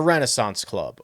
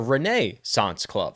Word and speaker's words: Renaissance Club: this together because we are going to the Renaissance Club or as you may hear me say or others say the Reneance Club.